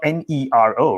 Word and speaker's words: Nero: saying this is the narrow pencil but it's spelled n-e-r-o right is that right like the um the roman emperor roman emperor yeah italian